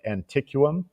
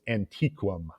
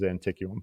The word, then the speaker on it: Antiquum: asked her and and she told us that there's actually no correct pronunciation because nobody really knows um i've always rolled with anticum uh because i just like the way it sounds i don't like and and the one pronunciation that that she said would not be correct because i think you're supposed to just like use all the vowels uh was it was was antique um but i think